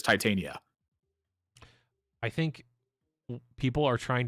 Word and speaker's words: Titania: giving the name people can tell me I mispronouncing this and I'm like I'm pretty sure it's Titania I think people are trying to say that